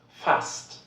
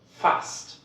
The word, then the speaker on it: fast: Then you have to pronounce it like st. St. For example, Obst, Obst, oder fast, fast.